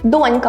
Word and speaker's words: донька: їх зазвичай найчастіше плутають донька має наголос на першому складі а дочка на другому Вони мають протилежне наголошення